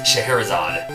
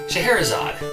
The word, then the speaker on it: Scheherazade: i don't know how to say it it's scheherazade scheherazade beautiful musical or orchestra arrangement or something like